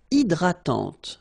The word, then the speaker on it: hydratante: Une crème hydratante. So remember, H is not existing, and then this Y is pronounced like E. Hydratante.